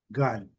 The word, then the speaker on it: gun: Gun, recebe um som um pouco mais curto aqui, ok? E a pronúncia da letra N, gun.